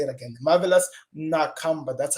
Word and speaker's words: Marvelous Nakamba: Marvelous Nakamba. That's how you pronounce it, people. He's my homemate. I know him. Marvelous Nakamba. You hear me? Nakamba.